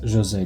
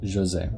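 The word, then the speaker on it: José: and it is Jose because he's um a Brazilian parrot and it's Portuguese so it's pronounced Jose but in the newer stuff whenever they feature him they say Jose because that's the like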